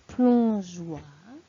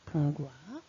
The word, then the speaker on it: plongeoir: Pour plongeoir. Sinon, ça ferait plongoir.